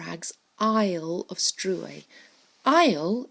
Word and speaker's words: Isle: Isle of strew a Isle is a short way of saying island and look again it's got that silent s Katie more eggs Isle